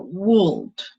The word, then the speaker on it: would: Okay, para los que no saben pronunciarlo, esta O no se pronuncia y va a sonar como would. ¿Listo? Esta O no va a sonar.